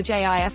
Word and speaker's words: GIF: day the case for gif is that graphical has a hard g the case for jif is that the creator of the file format says it should be jif both cases have enough